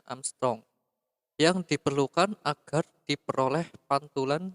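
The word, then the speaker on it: ångström: Tebal lapisan itu dalam Armstrong itu A, kalau di atasnya ada tanda bulat seperti itu dibacanya Armstrong.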